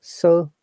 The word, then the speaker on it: sore: Pronunciation: sore muscle. Sore muscle. Because of the non-rhotic sound of British accent, so this R is not pronounced at all.